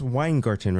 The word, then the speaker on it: Weingarten: Uh, it's pronounced wine garden, right?